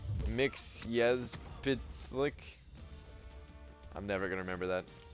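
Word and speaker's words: Mxyzptlk: It's pronounced Mixyezpitlik.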